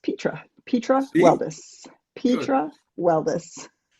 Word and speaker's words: Petra: And it's pronounced Petra.